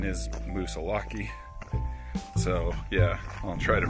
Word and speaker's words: Moosilauke: i guess just googled it and the correct pronunciation is musa laki so yeah i'll try to pronounce it correctly